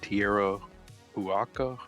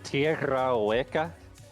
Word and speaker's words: Tierra Hueca: excuse me if I pronounce this wrong, but what is Tierra Huaca?